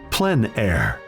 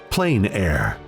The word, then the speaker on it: plein air: open air or outdoors the french pronounce it plein air others say plain air no matter how you